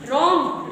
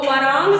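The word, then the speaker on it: wrong: silent होता है जब आर से पहले डब्लू आए तो साइलेंट होता है जैसे रंग आर के पहले आता है ना डबल आर ओ एनजी रंग रंग की स्पेलिंग क्या होती है डब् आर ओ एन जी तो वरंग तो नहीं पढ़ लोगे क्या पढ़ोगे रंग आपका क्या हो गया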